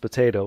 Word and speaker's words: potato: Yeah, that you don't pronounce the T's very well. Yep, we Yeah, elide them. potato. Yeah, we do them. We make them into D's an awful lot.